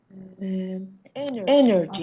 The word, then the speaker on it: energy: Energy. آفرین. پس میدونید تلفظ درستش این است. استرس روی سیلاب اوله.